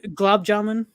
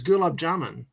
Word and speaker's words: gulab jamun: It's What is- glob jamun. Glob? Uh, I thought it was gulab jamun. Yeah, glob jamun or gulab jamun. Oh, Or okay. Gulab jamuna. Some people say it like that, Well, which down is